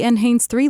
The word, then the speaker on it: NHANES III: The user can control the auto-interpretation feature from this tab, which allows the user to select the ATS Logic or the NHANES III [pronounced en-hanes three] logic.